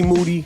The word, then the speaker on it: Moody: Moody, last name rhymes with duty.